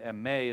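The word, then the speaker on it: μή: see some of the differences May oh me May is how you pronounce that me that's one of the Greek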